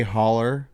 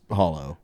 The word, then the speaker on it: holler: We would say holler. Yeah. But it was hollow, right? Yeah. See, now back in Kentucky, we don't, you know, we don't even spell it right on the road signs. It's H O L L E R.